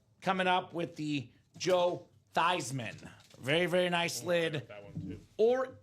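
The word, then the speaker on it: Theismann: let's go Mr David Soha it is Joe thyman the 1983 NFL MVP huddle around the campfire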